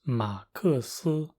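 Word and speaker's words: 马克斯: So the name Max in Chinese is Ma Ke Si. Even though it went from one syllable to three, it sounds pretty similar if you say it quickly enough.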